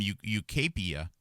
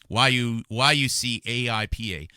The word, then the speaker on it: Yucaipa: But here we have 4 months later, Morgan's Hotel Group received $75 million investment from UCAPIA. I mispronounced that. YUCAIPA to fuel future growth.